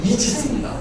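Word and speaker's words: Aegis: 바로 아이기스는 방패입니다 그리고 요것에 영어의 발음은 이지입니다 그래서 여러분들 저번에 연평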